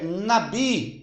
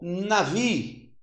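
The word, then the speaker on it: נביא: Agora, no hebraico, é nabi ou navi. Pode ser tanto nabi como navi. Navi ou nabi.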